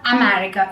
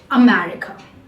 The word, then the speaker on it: America: A very famous example, America. Not a. Please, it is not America, it is America.